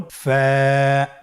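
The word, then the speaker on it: فاء: ফা হরফটি উচ্চারণের ক্ষেত্রে বারিক হবে এবং এক আলিফ টেনে পড়তে হবে। আপনারা আমার সাথে আবার বলুন। ফা।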